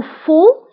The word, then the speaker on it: faux: Ou faux, hiya, khata, faux. فانتبهوا بالنسبة للفو كنكتبوها بإكس آخر الكلمة ولكن لا تنطق فو كتعني خطأ الكلمة